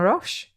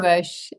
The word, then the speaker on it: Roche: And we are joined this week by um the fabulous Rash. Rash. Pronouncing correctly. Ro. Ro.